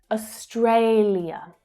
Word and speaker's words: Australia: Many Australians are pretty lazy with their pronunciation and with their syllable stress. So you'll probably just hear Australia. Australia. So the final ia is reduced down to ya. And sometimes even the first syllable gets completely dropped.